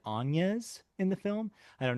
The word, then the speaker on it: Agnes: Um, so her her name which is spelled like the name Agnes but is not pronounced like Agnes in the film. It is pronounced like Ana in the film.